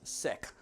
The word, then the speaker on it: Sikh: I'm actually sick so the word the way what the word is pronounced it's pronounced sick that is the name of the religion okay and I try